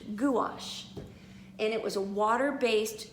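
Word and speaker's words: gouache: spelled it right on my paper and it's pronounced goulash goulash and it was a water-based quick drying paint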